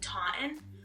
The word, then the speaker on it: Taunton: Like Taunton? Like there's a T in there that we don't pronounce.